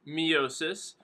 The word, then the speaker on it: meiosis: Mitosis and meiosis. Or for here, I'm going to pronounce it miosis.